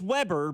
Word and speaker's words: Weber: And I'm like, "No, it's Weber, but it's spelled Weber. It's just one B, but it's pronounced Weber."